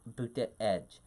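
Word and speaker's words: Buttigieg: a background as unique as his malts name pronounced booty edge as he travels the country Wayne reaction to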